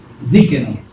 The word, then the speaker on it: Tzidkenu: ¿Cómo se pronuncia? Tzidkenu.